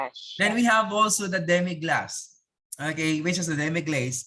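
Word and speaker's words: demi-glace: and canyon spell where you pronounce it glass pronounce then we have also the demi glass okay which is the demiglaze very pronounced demi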